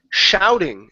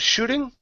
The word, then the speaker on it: shouting: Next one here is the word shouting instead of shooting. Okay, it's an ow sound here.